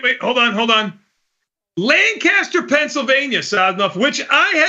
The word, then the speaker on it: Lancaster: Uh Conor Connor from Lancaster, Pennsylvania. I've been there, my friend. Yeah, Tony, I just want to say it's pronounced Lancaster here by the locals.